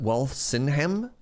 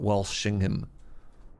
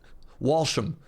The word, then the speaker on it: Walsingham: Not Walsingham, not Walshingham. Walsingham. So I'm trying to pronounce it like the English would. As a Canadian, Walsingham. And I'm assuming the English would just pronounce it Walsh. Walsham. Walsham. Whoosh. Just call it whoosh. Yeah. You thought it had an H?